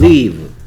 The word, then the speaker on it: leave: L L E A V E. 어떻게 읽겠어요? 그 발음이 그 leave. leave. EA가 E 됐어요.